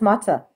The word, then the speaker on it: matzah: Just pretty much clear out your house, and it's matzah week pretty much. So yeah, not my favorite holiday, So it's but just like you clear out you clean up the house, and that's matzah.